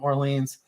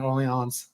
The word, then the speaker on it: Orleans: i'll vacillate between uh my southern pronunciation orleans and the proper pronunciation early ons i'll just go back